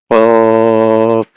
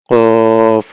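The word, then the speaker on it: ق: ফা উচ্চারণ হয় হচ্ছে নিচের ঠোঁটের পেট সামনের উপরের ২ দাঁতের আগার সঙ্গে লাগিয়ে ফা, আর কফ হচ্ছে জিহ্বার গোড়া তার বরাবর উপরের তালুর সঙ্গে লাগিয়ে কফ, কফ।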